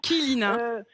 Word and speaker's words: Kilina: Alors, Kilina, hein, ça se prononce, Pardon, très important. Kilina.